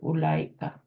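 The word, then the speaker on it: أولئك: جی Note that the wow in اولئک is not pronounced.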